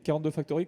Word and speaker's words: 42 Factory: Non, généralement en France on dit 42 Factory, hein, sinon les gens ne comprennent pas, et 42 Factory.